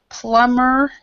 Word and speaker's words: plumber: right here but when when usually when there's a b uh next to another consonant that b is silent okay there's other other